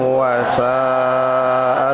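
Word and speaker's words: وَسَاءَ: Wala taqrabuz zina innahu kana fahishatan wa sa'a sabila. Jadi untuk lebih tepatnya, ketika sampai kepada wasa'a berarti mad wajib muttasil, membacanya 5 harokat.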